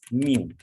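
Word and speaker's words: μ: mu, that is pronounced as mu, Greek letter।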